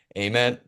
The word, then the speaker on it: Ament: you say your name I was like uh am like looks at the roll call guys he's